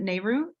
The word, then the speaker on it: Nehru: responses to uh and is it nehru do they say that right neru no you said it right the first time um then um please